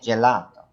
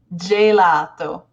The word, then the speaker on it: gelato: So if you wanted J, you would get gelato. That's right. So why is that? Why does letter G sound like a J so often in Italian?